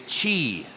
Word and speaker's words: Qi: is about energy now the word energy in Chinese is chi chi can you say chi